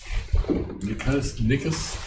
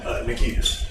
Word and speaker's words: Nikitas: Nickus. I know I butchered your name. How do you pronounce it? Nikitas. Nikitas. Sorry about that.